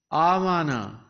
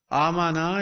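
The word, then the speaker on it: آمن: There are two alifs now. One is written as a hamza, the other as silent.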